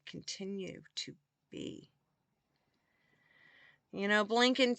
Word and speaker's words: Blinken: You know, Blinken, too bad his name rhymes with Lincoln.